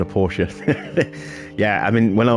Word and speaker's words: Porsche: And I always thought it was Porsche when I was a kid, but, as I grew up a little bit more, I realised it was actually Porsche.